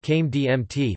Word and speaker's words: Crème de menthe: Crème de menthe, pronounced Came DMT, French for mint cream, is a sweet, mint-flavored alcoholic beverage.